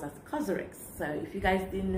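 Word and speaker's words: COSRX: to actually pronounce that thing properly it's actually pronounced as karx so if you guys didn't know I have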